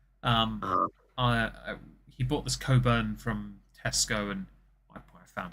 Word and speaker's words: Cockburn: a bottle of uh it's spelled cockburn is pronounced Coburn the C and are apparently silent like subtle with the B and receipt with the p um uh he bought this Coburn from Tesco and I found it actually um